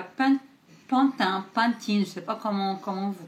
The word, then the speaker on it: Pantene: Le premier est à Pantene, je sais pas comment vous prononcez. Pour moi c'est Pantene en français, c'est Pantene en anglais.